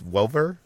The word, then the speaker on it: Welliver: This is the detective series that takes place in Los Angeles, starring Titus Welliver. Is that how you pronounce it?